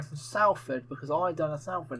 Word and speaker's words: Salford: Salford, we've said this before. What did he say? He said Salford. Well, it's spelled S-A-L-F-O-R-D. Spelled that way, but it's said. Did you say salt? Salford. No, salt.